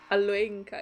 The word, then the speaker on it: Alenka: Ah, that's the way to pronounce it. Oops. Alenka. It's been so many episodes and I always got it wrong.